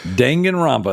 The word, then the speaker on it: Danganronpa: going um but yeah definitely and the proper pronunciation is Danganronpa not Danganronpa in case you guys are wondering yeah Danganronpa that's right that's right uh so we do